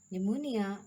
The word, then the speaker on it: pneumonia: So dear students, where P is silent, the letter P is not pronounced at the beginning of many words using the combinations of PS, PT, and PN. Cell, psephology, pterodactyl, pneumonia, and pneumatic.